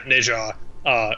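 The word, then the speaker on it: Nezha: It's named after a Neza. Yeah, Neja, I think. I had to like Google the pronunciation. It's based off of, I think, a Hindu legendary hero. But yeah, Neja, really cool.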